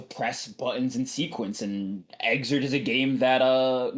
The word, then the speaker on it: Xrd: Um so uh yeah, tell us about Guilty Gear exert uh or however you want to pronounce it. Come up with a fun pronunciation for us. I know the title screen calls it Exard, so I have to